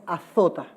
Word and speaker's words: azota: Y lo disciplina y lo azota. Lo voy a pronunciar con la Z.